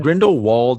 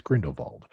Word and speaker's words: Grindelwald: I think if you use the German pronunciation, it's Grindelwald. The English pronunciation would be Grindelwald. Okay. And when we mean English, we're talking about American English, not British English.